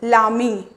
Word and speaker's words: l'ami: After that, last one, army, and again here a is a vowel, that's why we use l apostrophe, so it becomes lami, ठीक है, lami.